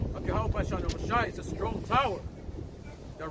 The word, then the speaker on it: Yahawashi: You know, this is our reasonable service for Yahweh wa Yahawashi.